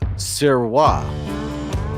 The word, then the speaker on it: Sirois: So it's Sirois. It's not David Sirois, it's David Sirois. So I apologize. It's French. There we go, Sirois. Sirois. Yeah, okay, I got it this time. So David Sirois.